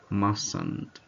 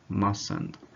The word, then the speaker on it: mustn't: contracted for mustn't mustn't without pronounce the consonant T the first T is silent like mustn't mustn't Muhsin so I hope that